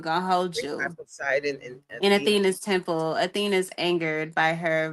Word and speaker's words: Athena: E uh Etheina. How do you say her name? Athena. Yeah. Yeah. Edena.